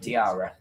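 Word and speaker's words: Diarra: Um, it's spelled D A I. No. D I A R R A. Habib diara.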